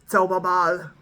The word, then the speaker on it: Zauberball: So this is I know they're like English pronunciations of this, but for me it's a Zauberball.